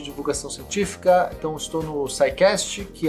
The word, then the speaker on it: SciCast: Se chama SciCast. SciCast se escreve SCI-Cast, né? O SCI é de Science, então é o Sci, né? Sci-Fi, por exemplo, é o SciCast.